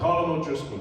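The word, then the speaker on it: Colm O'Driscoll: have a pronounce it he knows how to pronounce his own name it's called a column O'Driscoll just so you know oh man just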